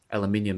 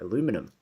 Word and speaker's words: aluminium: The cool thing about it is that the body's made of aluminium, as we say in Australia, but I know guys in the States call it aluminum.